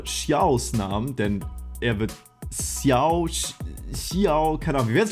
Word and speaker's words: Xiao: ja, ich wurde in meinem letzten Video zu Xiao, wurde ich darauf aufmerksam gemacht, dass ich ihn falsch ausspreche und sowas nagt natürlich an meinem Selbstvertrauen und an meiner Seele.